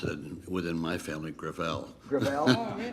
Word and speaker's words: Gravel: it within my family gravel it's a french name thank you i want